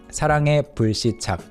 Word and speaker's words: 사랑의 불시착: Again, 의 being pronounced as 에 once again here. 사랑의 불시착, crash landing on you, crash landing on you, literally crash landing of love.